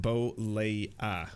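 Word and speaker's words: Bollea: Um, so it's pronounced Bolea. Bolea.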